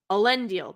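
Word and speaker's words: Elendil: so she's she hands ellen deal a lindeal um how do they say it allen deal that's how they say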